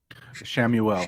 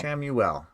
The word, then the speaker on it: Chamuel: Shamuel. Shamuel. Okay, how do you spell that?